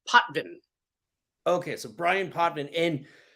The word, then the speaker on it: Potvin: do I jump in uh last name is pronounced poin okay so Brian potman and you are a